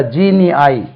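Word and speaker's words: genii: கொண்டு வந்திருக்கோம்னா ஜீனியஸ் எஸ் இதே வந்து சூப்பர் நேச்சுரல் ஜீனியஸ் இருந்தா ஜீனி ஐ ஜி இன் ஐ ஐ ஜீனி ஐ சூப்பர் நேச்சுரல் ப்ளூரல் வந்து ஜீனி ஐ என்று உச்சரிக்கப்படுகிறது ஜீனியஸ் ஜீனி ஐ ஓகே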